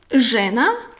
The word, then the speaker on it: žena: So ž is tongue up, ž like žena, žena is a woman, ž žena, tongue up, žena, and this is š like šuma, forest or wood, šuma, I will write it. So you see, žena.